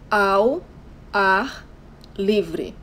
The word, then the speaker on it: ao ar livre: This is how you say outdoor in Portuguese: ao ar livre. But we say the two first words all together, so it sounds ao ar.